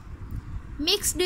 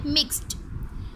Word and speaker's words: mixed: यहाँ पर हम मिक्स्ड इस तरह से इसमें ड की साउंड नहीं लाएंगे, हम इसमें ट की साउंड लाएंगे. मिक्स्ड जो है वो गलत है, इसकी प्रोनाउंसिएशन, इसकी करेक्ट प्रोनाउंसिएशन है मिक्स्ड.